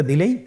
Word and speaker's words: দাল: দাল হরফটিও বারিক হরফ। উচ্চারণ করার সময় অবশ্যই 3 আলিফ টেনে পড়তে হবে। দালের মাখরাজ হলো জিহ্বার আগা সামনের উপরের 2 দাঁতের আগার সঙ্গে লাগিয়ে উচ্চারিত হয়।